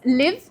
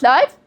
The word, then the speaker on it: live: It's live not uh where do you live not life.